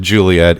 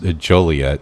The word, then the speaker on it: Joliet: Which you don't pronounce it Juliet. It is pronounced Joliet. It is a French name, but nonetheless, it was still a homage to our good friend and writer Shakespeare.